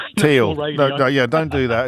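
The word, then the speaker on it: Thiel: that long streaky Teal apparently. I mispronounced that. I've been corrected. I'm sure I got corrected when I said teal to steal. And now I've said teal and everyone's saying teal.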